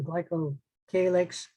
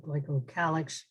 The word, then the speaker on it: glycocalyx: parts of the cells, the glycocalyx, also called glycocalyx, both pronunciations are correct, flagella, axial filaments, fimbriae, villi, peptidoglycan, endotoxin, selective permeability.